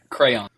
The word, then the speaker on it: crayon: way you're both wrong it's a crayon you take that middle syllable out you just skip it when you're talking about